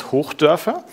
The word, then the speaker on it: Hochdörfer: Um, if you really want to go crazy, you can try to pronounce my last name. It's Herf.